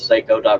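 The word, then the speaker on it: Seyco: you bring it as Seiko calm technically it's pronounced psycho because it's after his last name Steve Martin Tracy Marcus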